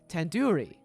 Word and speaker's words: tandoori: Surely you at least recognize tandoori chicken.